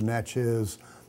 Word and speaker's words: Natchez: natchez people but the the c-h-e-z suffix on the word is a result of the french use of the term which makes it the natchez word be the common